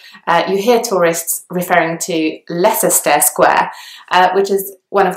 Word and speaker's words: Leicester: sites in London and it kind of makes sense to pronounce both the C and the s because they are both in the word but actually only the S sound is pronounced so it's not less